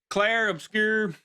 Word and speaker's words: Clair Obscur: I've just recently finished Claire Obscure, this is how you say it, Expedition 33.